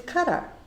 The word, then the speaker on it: Qatar: say that q a t a r is cut up and so if you're on live today i